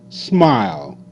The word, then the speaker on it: smile: the number nine smile SM ah smile all Smile Smile e is is silent see the yellow one